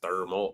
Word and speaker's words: Thermo: I'm talking about and that ain't how you say it it's thermal oh you guys can't